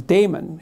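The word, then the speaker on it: daimon: consultation with his conscience his Damon he called it um I I think you actually pronounce it demon but it means conscience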